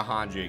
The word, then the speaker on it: Hange: If anybody does a tts with Gilbert referring to Hanji again make sure you teach him how to pronounce it.